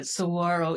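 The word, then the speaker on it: saguaro: And here we have the sawro cactus. And yes, that's how you say it, sirro. Even though they did put that pesky G in there.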